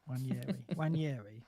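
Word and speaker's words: Nwaneri: The you don't pronounce. Yeah. Waneri.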